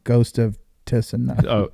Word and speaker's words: Tsushima: Ghost of Tsushima. Oh, Tsushima?